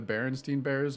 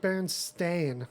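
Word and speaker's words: Berenstain: and it was like does everyone remember this being the Berenstein bears when it's like the bernstein bears it's like been stained it was like a totally different spelling it's spelled like stayin in real life and I didn't remember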